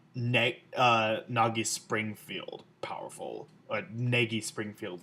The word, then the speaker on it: Negi: nagi springfield powerful a nagy springfield like however you want to pronounce his name i usually pronounced at negi um but like I